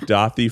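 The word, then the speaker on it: Daði: recommend you look up dothi freyr and you would actually spell it d-a-d-i because it's actually an icelandic letter that we don't have um i think his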